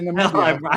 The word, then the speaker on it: Namibia: Maybe Namibia, but no, Nambia I believe should be a country. But hold on. This speaks to kind of the bigger like. Fuck, I have been mispronouncing it. Namibia. Okay, Namibia.